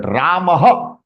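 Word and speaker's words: रामः: But Ramaha is the pronunciation in Sanskritam.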